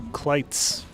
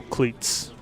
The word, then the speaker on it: Cleats: Joe Cleats says it's pronounced Joe Kleitz. So are you saying I do not have permission to call you Joe Cleats?